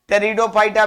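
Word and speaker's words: Pteridophyta: टेरिडोफाइटा में P silent है, और थैलोफाइटा को अलगी और फंगी में बांट देते हैं।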